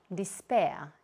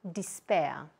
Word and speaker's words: despair: In here, the stress comes here, despair, despair.